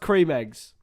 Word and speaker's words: Creme Egg: They're pronounced cream eggs.